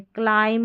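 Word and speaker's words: climb: पर पहुंच गए हैं तो एम बी को म पढ़ना है क्योंकि एम जो है इसका उच्चारण हो रहा है बी यहां पर लास्ट में जो आ रहा है ना यह साइलेंट है क्लाइम हो गया कॉम हो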